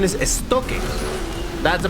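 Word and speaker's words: Estoque: the real pronunciation is esto that's a pronunciation because it's a Spanish word and that is a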